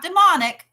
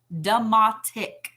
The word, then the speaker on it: demotic: language called the a-e-m-o-t-i-c not demonic demotic so there are two